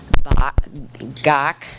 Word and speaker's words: Gach: Our first chef is going to be Vicki Brett Gach. I know I was going to get that wrong. She says it rhymes with Bach.